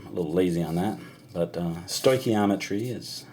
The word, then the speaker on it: stoichiometry: It's stoichio for element, metry, meter, measuring, and it should be stoichiometry, but I'll usually say stoichiometry just because I'm a little lazy on that. But stoichiometry is how it's pronounced.